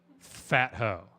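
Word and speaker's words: Phat Ho: However, However, he chose to pronounce it fat hoe.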